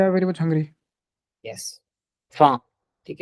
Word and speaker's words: faim: yes, faim। ठीक है, last Ah, word is faim, it's not hungry. Yes. femme, it's faim।